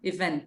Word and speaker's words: event: And event, a sílaba tônica é a última. Event, não event.